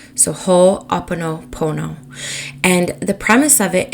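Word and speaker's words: Ho'oponopono: practice it's shamanic in nature I'm about to butcher the name I know I am but it's whole Oppo Pono so whole Oppo Pono and the premise of it is around making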